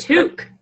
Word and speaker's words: toque: Was a that toque.